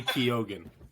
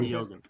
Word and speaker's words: Keoghan: It's Barry Keoghan. Oh, Keoghan? Thank you. Keoghan. He pronounces it like that, so that's how I'm gonna pronounce it.